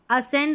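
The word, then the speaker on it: ascend: असेंड और डिसेंड को कई फोनिक्स विशेषज्ञ एससी प्रोनाउंसिएशन पैटर्न में रखते हैं। यानी कि सी की अलग ध्वनि नहीं आती।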